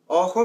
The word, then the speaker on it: ojo: Ojo means eye, hoyo means hole.